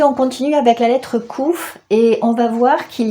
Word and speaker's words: Qof: s'écrit comme ça et ça se prononce couf mais ça peut aussi se prononcer COF et moi je préfère dire couf parce qu'en fait KOF ça veut dire un